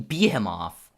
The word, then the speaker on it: behemoth: Anyway, he's a 7'4" behemoth of a man. What the fuck do you mean behemoth? What the fuck sort of pronunciation is that? It's behemoth.